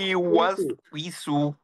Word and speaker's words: يوسوس: ويسو ويسو এটারে ঠিক করতে হলে ঠোঁট নাড়াইতে হবে, ঠোঁট না নাড়ায় যদি মনে করেন উইসু, উচ্চারণ ঠিক হয়ে যাবে, উইসু।